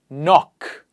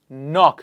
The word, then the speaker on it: knock: please repeat after me knock knock so the first K is silent here knee new knife very